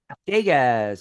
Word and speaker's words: Dagaz: yeah fir first uh first vow is long okay deas and then I was